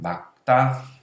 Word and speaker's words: 맑다: 맑다. 막다라고 말합니다. 막다.